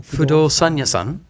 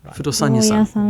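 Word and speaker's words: 不動産屋さん: 不動産屋さん Fudosan-yasan. Fudosan-yasan.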